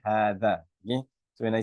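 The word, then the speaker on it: هذا: And hadha is always there's actually an alif that's embedded there. So the right way to say it is actually hadha.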